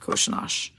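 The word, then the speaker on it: Kořenář: is going to be Joseph koshinosh and I know that's not what it looks like his name says but that is actually how it's pronounced but believe it or not sorry Yosef koshanash let me get the first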